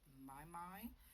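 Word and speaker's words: Mimi: And then there is also Carol is Crafting with My, which is spelled M-I-M-I, but it pronounced My.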